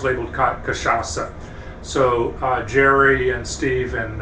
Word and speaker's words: cachaça: It's cachaça.